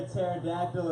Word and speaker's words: pterodactyl: So why can't you hear a pterodactyl in the bathroom? Why? Because the P is silent.